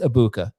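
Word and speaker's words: Egbuka: Okay, I think you still might be saying the G in there. It's just Ibuka.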